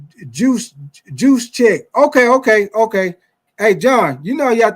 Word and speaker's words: Gesicki: You say Gesicki is actually pronounced juice check.